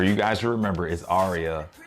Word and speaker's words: Aria: to tell me um yes her name is arya a-r-i-a um yeah and i know my mom she like mispronounces it she says aria no or she